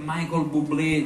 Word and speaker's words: Michael Bublé: tutti quanti voi sapevate perfettamente che si dice Michael Bublé c'ho la pronuncia proprio sa però così per sicurezza Al